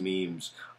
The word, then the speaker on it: meme: But to just say that it's a meme, and then meme, oh, that's nice, it rhymes with Gene, we're waiting for a